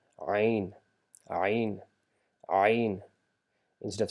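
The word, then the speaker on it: عين: part of your mouth, just try to bring this sound from the middle of your throat. Ain, ain, ain.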